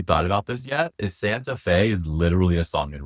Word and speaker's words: Santa Fe: Um, Santa Fe. Oh, okay. Rhymes with gay. Rise with gay. Uh, Santa Fe. So, Santa Fe is in New Mexico.